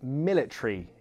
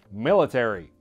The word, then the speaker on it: military: So in American pronunciation, you might hear military. But in British pronunciation, all the words that end in ery, they get smushed. So instead of military, it sounds like military. Instead of terry, tree. Same with strawberry, strawberry, mandatory, mandatory.